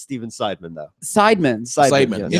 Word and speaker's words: Seidman: It's Seidman. Yes. Seidman. Why'd you say it wrong? You I didn't- always say it wrong. first He's off, cipher in the side. No. Because you talk with that black accent. No. See, now you're trying to blame it on my whole time. You said cipher.